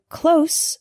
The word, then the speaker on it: close: The word close with an S sound means near, not far.